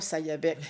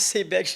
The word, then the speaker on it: Sayabec: Sayabec, je connais pas Sayabec. Alors, en parlant avec mon agent d'immeuble, il dit Madame Moule, on prononce Sébec.